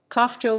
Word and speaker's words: Honfleur: Traditional pronunciation, Kofjo with the H strongly aspirated, like in Locke. It is lost nowadays.